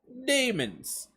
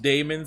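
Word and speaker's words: daemons: domains of real space demons I know it's not pronounced Damon's I do I'm just like basically poking fun at the extra letter A in there for no reason but uh a demon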